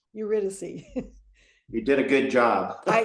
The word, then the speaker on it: Eurydice: Well, let's hear what happens with Orpheus and I'm going to say it again, Eurydice. Eurydice. You did a good job. You can go on YouTube and learn how to pronounce these things.